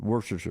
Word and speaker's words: Worcestershire: i'm pronouncing it chester worcestershire worcestershire really you don't say it you just mumble it worcestershire all right so jeff